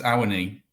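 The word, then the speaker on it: Awoniyi: Yeah, Teo Owini. Is that how you pronounce it? Oh, good question. We've been debating this. We think it's Awani.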